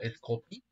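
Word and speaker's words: Skopie: esop también o sea yo la leo como scopy pero eh acá lo cuentan con la j y no con la i eso es curioso Madagascar antana en Malasia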